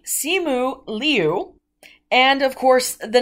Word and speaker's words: Simu Liu: his name which is c mu liao liu sorry excuse me simu liu and of course the